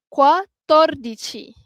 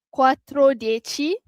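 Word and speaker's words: quattordici: Quatordichi. Okey. Quatorordich bukan quatrochi.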